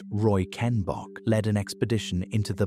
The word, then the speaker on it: Reichenbach: In 1911, a German paleontologist named Ernst Stromer von Reichenbach, pronounced Roy Ken Bock, led an expedition into the Bahariya Oasis in Western Egypt.